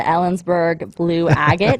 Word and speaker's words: Ellensburg Blue Agate: So we have to talk about the Ellensburg Blue Agate. Is that how you pronounce it?